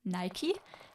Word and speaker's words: Nike: It's Nike, but you would pronounce it like the shoe, Nike, and I do not want to be called Nike because that's kind of really weird.